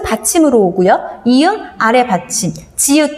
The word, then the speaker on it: 지읒: 근데 가끔 얘 이름 지읒이잖아요. 지옷이라고 하는 친구들 있더라고요. 지옷 아닙니다. 지읒.